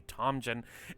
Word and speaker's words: Tomjin: Tomjin told me in the phone call it is a J sound, so it will be Tomjin. And in the interview on